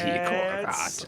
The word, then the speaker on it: Sikorgat: Well, you pronounce it like there is an H, but that's Sikorgat.